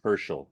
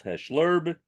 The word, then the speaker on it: Herschel: That was his Jewish name, Herschel. I said, that makes sense. So then I finally broke the mystery. I understood why my father called himself Hesh Lerb, because he was simply mispronouncing Herschel.